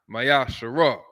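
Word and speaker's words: מעשר: Numbers 18:21, Malachi 3:8-10, means 10th in the Hebrew, which is pronounced Mayasharah.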